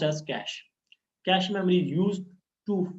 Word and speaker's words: cache: It is pronounced as cache.